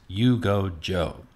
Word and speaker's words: Yuge Zhou: and my guest has been the visual artist you go joe you can see clips from her videos and